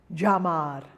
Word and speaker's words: llamar: Double L is pronounced j. It's like a Y, but it's very heavy.